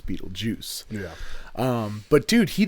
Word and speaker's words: Beetlejuice: it's spelled g u e and she keeps pronouncing it Beetle Geist yeah and so that's why they don't summon